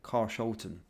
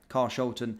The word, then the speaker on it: Carshalton: the pronounciation and uh they were saying car sholon okay car Shulton it looks as though it is it was is either that or cars Holton sorry for the unprofessionalism